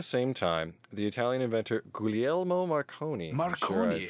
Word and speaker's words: Guglielmo: time the Italian inventor guglielmo marconi Marconi butchered that name now he was gaining steam in England working on wires well there's a G but I think the G is silent I'm not Italian so